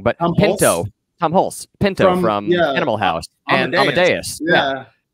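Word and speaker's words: Tom Hulce: Even Tom Holt. I always get his name wrong. But Tom Hulse.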